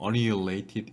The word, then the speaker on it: annihilated: The recombination is the process whereby electrons and holes are annihilated 또는 annihilated 이렇게 발음하는데요.